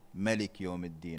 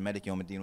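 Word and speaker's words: مالك يوم الدين: But the reason why it's written Malik Yawm al-Din with a little alif is because sometimes the alif is not pronounced.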